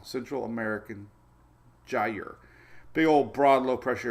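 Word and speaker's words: gyre: this is called a gy rhymes with Tire I don't know how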